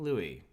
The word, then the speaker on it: Louis: Usually you don't pronounce S at the end of words. That helps. It will. King Louis.